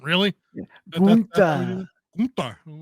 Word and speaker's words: Gunther: I'm like, okay, so even in a galaxy far, far away, the name Gunther needs to be pronounced with that overwhelmingly like Swedish chef accent. Really? Yeah. Gunther.